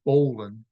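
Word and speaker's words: bowline: a bowan spelled b WL i n e pronounced Bolan because Sailors are weird it's used to form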